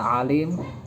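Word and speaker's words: عليم: surat al-fatihah ini karena huruf Ain ini harus dibedakan dengan huruf hamzah yaitu a biasa dengan a karena bisa merubah makna seperti kata Alim dengan kata Alim kalau Alim itu artinya mengetahui kalau Alim itu sakit seperti ayat Adapun Alim itu artinya siksa yang menyakitkan siksa yang Pedih dan juga kata tak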